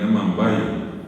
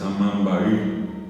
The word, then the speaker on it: amambaí: El helecho, la gente le dice en guaraní amambay, pero la palabra correctamente pronunciada es amambaí.